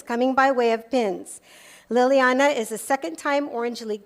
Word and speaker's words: Liliana: Is it Liliana? Liliana, oh, right. Liliana Balderas is a sophomore at Anaheim High School. She holds a career record of 74 with 50 wins coming by way of pins. Liliana is a second-time Orange League champion, second-time CIF